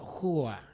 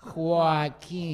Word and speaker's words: Joaquin: They think it's you because they say who is O. It's Hua. It's not Hua. It's Joaquin. Joaquin.